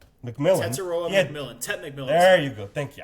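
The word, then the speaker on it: Tetairoa McMillan: But like you've always been stating too about this rookie, Tataria McMillan. Tet McMillan. There you go. Thank you. I cannot pronounce that name.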